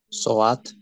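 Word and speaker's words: ساعت: con esa gutural y Cómo se dice reloj en persa por favor conteste quien quiera soat muy bien Ignacio soat soat lógicamente soat viene del árabe Pero bueno tiene un cambio fonético bien volviendo a lo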